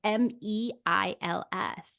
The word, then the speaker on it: Meils: because it is spelled It Miels, it's right? it's Meils, and Right.